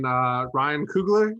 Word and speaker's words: Ryan Coogler: To start off, I love how they're getting Ryan Coogler.